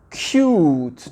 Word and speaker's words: cute: Et ici, ça donne cute, tu vois. Et insiste sur le U, tu vois. Prononce-le entièrement. Cute.